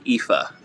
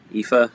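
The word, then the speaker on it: Aoife: and it looks great but like nobody's gonna pronounce that correctly for her you know and aoi i know this one it's like ifa right ifa my now this one's like kiva no yeah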